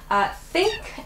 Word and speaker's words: think: Okay, so the difference here, think and thing both start with that TH sound.